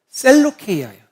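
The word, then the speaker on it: Σελεύκεια: 역사적인 이해를 조금 더 설명을 드린다면 안디옥이라는 도시는 안티오쿠스라는, 셀류쿠스라는 왕의 아버지의 이름으로 지어졌는데, 이 셀류쿠스가 오늘 실루기아라는 말의 이 원어적인 이 발음은 셀루케이아예요. 셀루케이아라는 말은 형용사형인데 셀류쿠스의 것이라는 뜻입니다.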